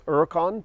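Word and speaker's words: Huracán: it is pronounced as uricon because you dropped the H the H is always silent in Spanish you try to roll your r's which I'm terrible at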